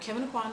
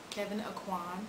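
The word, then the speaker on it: Kevyn Aucoin: know reading about so Kevin auan books Kevin aan and I'll put the name on the screen because it's not spelled the way it's pronounced for sure and Iman I in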